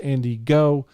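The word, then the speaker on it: Andy Ngo: Now, this came to my attention by a Twitter post by Andy, I believe it's pronounced Andy Go.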